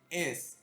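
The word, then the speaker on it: 의: que en este caso se pronuncia como e, como vimos anteriormente, tiene dos tipos de pronunciaciones, después la cosa che y por último el verbo ser yo, ¿correcto?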